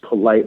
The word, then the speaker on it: Polite: to mispronounce the name, polite. I'm like, no, it's polite like the word. It's say it how it's spelled.